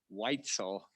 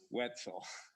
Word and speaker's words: Weitzel: I do have to say, in support of Sharon Weitzel, who was in my wedding, that it's pronounced Weitzel, not Wetzel.